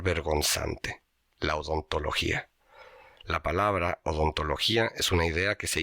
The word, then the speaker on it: odontología: La palabra odontología es una idea que se hizo lenguaje y se volvió medible y clasificable. Tiene 11 letras lleva acento en la vocal débil para romper el diptongo y pesa tanto como